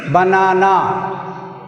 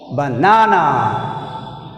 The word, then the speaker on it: banana: In banana word, we stressed second syllable. బనానా అనే పదంలో మనం సెకండ్ సిలబుల్ని స్ట్రెస్ చేసి పలుకుతున్నాం. బనానా, బనానా, బనానా. See here. In Telugu, banana, banana.